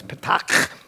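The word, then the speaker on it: petaQ: But the standard way I decided is patak.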